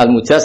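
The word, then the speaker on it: المجاز: sanad itu untuk al-mujaz, bacanya al-mujaz karena dari fi'il madhi ajaza.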